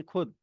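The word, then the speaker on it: خود: लेकिन कुछ पर्टिकुलर फारसी के ओरिजिन के वर्ड्स हैं जो कि खे अपना जिम ग्रुप में खे है और उसके बाद वाव आता है तो वहां पे वो छोटे ऊ की साउंड देता है।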